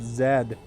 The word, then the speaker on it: Z: war z you know in canada we pronounce it zed but because uh that